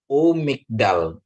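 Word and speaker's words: וּמִגְדָּל: umikdal itu dan ya kalau ada dia prefix Pap ya Bapak Ibu saudaraku ini ada PAP ini menunjukkan dan ya dan ya u jadi bacanya Kenapa karena ini ada di sini ya Jadi ini ada suruk ya gitu ya Bapak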